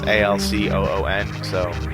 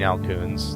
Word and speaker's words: Alcoon: Al soon or alphoon it's spelled kind of like raccoon except it's a-l-c-o-o-n so I say kill the